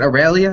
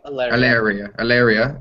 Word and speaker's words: Alaria: Is it Aurelia? Is that the correct way to say it? Alaria, and she's harmless as long as you don't piss her off.